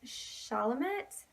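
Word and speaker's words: Chalamet: name and it starts armie hammer and Timothy Charlemont I think it's how you pronounce the same and it's an indie movie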